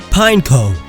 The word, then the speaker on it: Pineco: Pineco. Like pine cone. You sound like you don't know what a pine cone is if you just say Pineco.